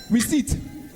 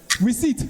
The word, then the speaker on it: receipt: e ipt your pronunciation receipt receipt receipt with a silent p 10 points to Saint